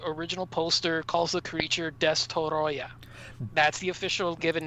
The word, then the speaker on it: Destoroyah: address, and that is the mispronunciation of the actual film. Now, I know that it's actually much easier for most of us to say that the creature is called Destroyer, but the actual Japanese kanji on the original poster calls the creature Destoroyah.